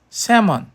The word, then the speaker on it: salmon: Por isso, hoje você escreve salm, mas a pronúncia correta continua sendo semon. O L é um fantasma latino que assombra o cardápio.